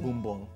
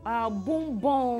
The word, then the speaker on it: Bumbong: So you're a proud son of, how is it pronounced? Bumbong. Bumbong. It's right close to Yendi, on the road from Yendi to Gushiego. Oh. It's right in the middle there. Okay, so that's it, Bumbong.